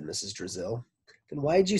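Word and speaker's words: Drazil: Raziel it it was just a little lit it was just a little joke brazil rhymes with drizzle i thought it might help you remember my name Terrence laughed drizzle Brazil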